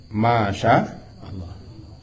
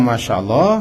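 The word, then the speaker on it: ما شاء الله: Jadi kalau kita baca pendek, Masya Allah, berjalan. Masya yamshi, berjalan Allah.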